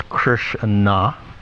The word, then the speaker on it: Krishna: So interestingly enough, if we just take the meaning of Krishna, it's actually 2 syllables, Krishna.